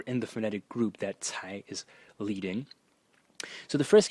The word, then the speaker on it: 才: so as I said this uh character is pronounced Tai is composed only of three strokes and there